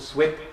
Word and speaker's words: SUIP: slip is the name of the compo we pronounce it swip or you can call it soap or anything you want to so long as